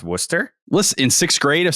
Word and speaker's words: Worcester: the Wu Sox don't know how to pronounce Worcester uh actually yeah that makes sense a lot of them have no idea I remember I was in Middle School and I was calling it warchester and someone actually had to tell me and